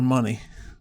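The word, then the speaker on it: Munny: Is it Mooney or Money? It's I think it's Money. That's how you say his name.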